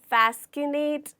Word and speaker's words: fascinate: इसे हम fascinate बोलते हैं, ना कि fascinate या fascinate नहीं, वो गलत प्रोनाउंसिएशन है।